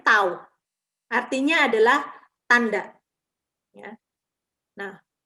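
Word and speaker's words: ת: Huruf T itu pelafalannya tuh tau.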